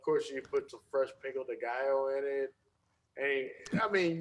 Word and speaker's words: pico de gallo: And I put that in the queso, and then of course you put some fresh pico de gallo in it. And I mean, yes, I use the pickle de gallo.